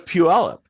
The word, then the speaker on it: Puyallup: I mean, but you know, people here in Washington get all bent out of shape if somebody says Puyallup, you know, and it's like, well, that's how it's spelled. But it's Puyallup. You just kind of learn that.